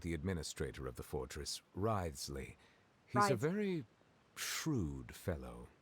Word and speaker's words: Wriothesley: I mentioned that I have had personal dealings with the administrator of the fortress, Wriothesley. He's a very shrewd fellow. So Wriothesley is how it's pronounced.